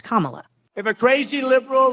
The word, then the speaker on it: Kamala: also attacked his new opponent whose name is pronounced Kamala if a crazy liberal like Cala Harris so